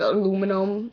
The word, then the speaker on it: aluminum: mayonnaise pajamas cart naturally it's spelled aluminium here and in that case when I'm reading it I'd usually pronounce it aluminium but when I'm in common conversation and I mention like a can a SoDo it's aluminum is how I normally say it uh JF Tumblr Cracker